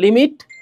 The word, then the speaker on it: lim: এটা মানে লিম মানে লিম লেখব সংক্ষেপে কিন্তু উচ্চারণ করব লিমিট এক্স এই চিহ্নটা উচ্চারণ